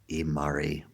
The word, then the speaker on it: Imari: Her name is Sarah Imari Walker. Imari is spelled I-M-A-R-I.